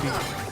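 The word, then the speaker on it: Bheem: All right, that's just pronounced Beam. That's Beam is one of the Pandava brothers.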